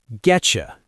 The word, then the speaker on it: getcha: Getcha, that's short for get you.